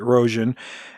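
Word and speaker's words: Rogen: Roan it's U spelled Rogan but it's they pronounce it Roan she was in something called Dragon Wick o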